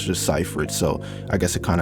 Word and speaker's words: Seyfried: movie I just found out how to actually pronounce her last name always was like see freed cyphreed but no it's just cypher it so I guess it kind of actually makes